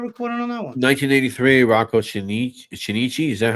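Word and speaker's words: Rocco Chinnici: 1983, Rocco Shinichi. Is that how it's pronounced?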